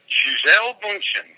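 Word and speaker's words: Gisele Bündchen: Gisele Bundchen, that's how you pronounce it.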